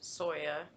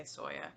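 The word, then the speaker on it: SYOA: It is a Stitch Your Own Adventure, pronounced Soya, even though it's S-Y-O-A, we just say Soya.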